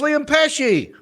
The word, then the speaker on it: Pesce: He said, pronounce like Joe Pesci, the actor. So it's Liam Pesci.